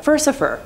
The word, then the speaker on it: Furcifer: It seems much more likely that the name is a corruption of Furcifer, the Latin word for scoundrel that also rhymes with Lucifer, which works with him being a count of hell and all.